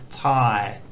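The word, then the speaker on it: ถ่าย: And these two together make like a long I sound. So this is Thai, which means to take, as in a photo or a video.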